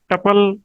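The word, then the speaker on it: tuple: है थे word T यू पी एल लिख टपल क सकते हो ज्यादातर लोग टपल कहने पर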